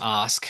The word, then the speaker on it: Ask: Yeah, so my last name is Ask. It's spelled like ask, A-S-K.